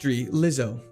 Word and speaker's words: Glizzo: It's a soft G. Lizzo. Glizzo. Like that. Glizzo. Soft G.